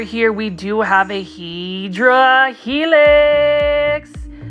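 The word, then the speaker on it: Hedera helix: we do have a hedra helix this um hyera Helix which is the correct way to say English ivy um is for $9.99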